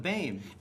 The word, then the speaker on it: Boehm: Uh Doug is the artist Did I get your last name pronounced right there? Bane, yes. Bane, nailed it.